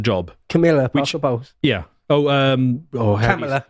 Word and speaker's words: Kamala: Kamala. Kamala. Yeah, you're supposed to say it like that.